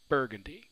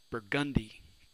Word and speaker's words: Burgundy: certain shade of purple right burgundy we stress that first syllable we're not really saying it more loudly rather we're emphasizing it more okay but here in new orleans there's a street in the french quarter with that same name how do we pronounce that right we say burgundy we stress that second syllable and as a result we change the way the word sounds when we look at